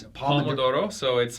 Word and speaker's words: Pomodoro: How is it – how do you pronounce it? Thomas: Pomodoro.